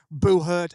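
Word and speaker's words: Buhurt: t hang on sorry Booher as in it rhymes with you hurt exactly Boer yeah it's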